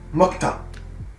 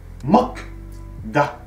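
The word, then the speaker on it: 먹다: Mokta. Mok-da. Mais lorsqu'on le prononce, mokta.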